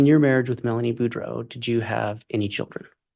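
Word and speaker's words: Boudreaux: morning morning can you state your name and spell it for the record my name is budro b r a n d n Buro is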